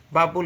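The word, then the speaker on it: 밥을: উল আছে মূলত হ্যাঁ বাব উল তো এখানে যেহেতু স্বরবর্ণ তাহলে এই বিয়োগটা এখানে এসে উচ্চারণ হবে দেখেন বাপ উল এই যে বটা এখানে নিয়ে আসবেন এনে বাপুল হবে বাপুল এই যে বাপুল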